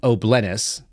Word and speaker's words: O'Blennis: You see him on screen, Gavin O'Blennis, nothing better than someone with an O and a word that rhymes with penis.